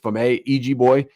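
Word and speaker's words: Feyboy: On the right side, FM EG boy is how you say that name. It's not fame. It's f ei boy.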